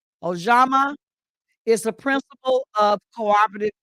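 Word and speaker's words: Ujamaa: Now we're on the fourth uh, principle, which is cooperative economics, and it's pronounced Ojama. Ojama is the principle of cooperative economics.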